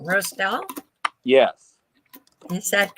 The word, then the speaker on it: Roestel: uh help me out Josh your last name pronunciation Roselle yes is that correct all right um I